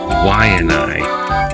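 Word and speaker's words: Waiʻanae: The W in the front of a word is wa, like Waianai, Waialai, wa.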